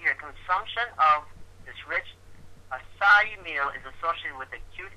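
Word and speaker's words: açaí: te okay and it's it's pronounced a it's pronounced aai aai it's pronounced aai okay and if you put that into p.gov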